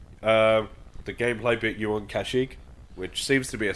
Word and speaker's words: Kashyyyk: Obviously, the gameplay bit you on Kashyyyk, which seems to be a staple of Star Wars games at the moment.